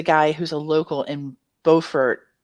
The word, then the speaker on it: Beaufort: who's a local in Beaufort is that how you say it well it's beautiful Beaufort excuse me Beaufort South